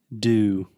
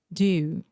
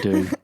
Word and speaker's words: dew: Do. Just like do. Do you want to make a question? Do. But we spell it D-E-W. Like Mountain Dew. Okay. Yeah. But how do I say that? Oh, there is a lot of dew. There is dew. Yeah. It's dewing. It's not doing.